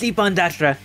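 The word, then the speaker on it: Ippon-Datara: Ooh, it's Ippon Dattara. Good job on that pronunciation.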